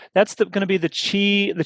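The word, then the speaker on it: Qi: going to be the chi the chi or it's spelled q-i but pronounced wireless charging standard and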